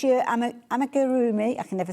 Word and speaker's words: amigurumi: So whether it's your amigurumi, I can never say it right.